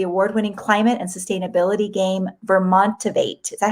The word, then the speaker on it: Vermontivate: She was the co-founder and executive director of the award-winning climate and sustainability game Vermontivate.